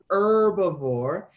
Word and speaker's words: herbivore: some people off but that H is silent it doesn't say anything so we just go herbivore and a fun way